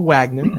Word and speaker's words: Wagner: Wagner or Wagner, as Americans say.